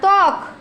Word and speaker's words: ত্বক: তারপরে তক না, ত্বক। তয় বফালার উচ্চারণ তয় হবে, তয় বফালার উচ্চারণ কি হবে? তয় বফালা ত ক, কি হলো? ত্বক।